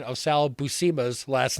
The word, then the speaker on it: Buscema: people pronounce it both ways but schema or basima and in the book he actually says no it's not b-u-s-s-k-e-m-e it's SEMA I'm like okay hey I know how to pronounce his name now there you go right